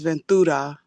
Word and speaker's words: Ventura: If you say it in Spanish, it's Ventura.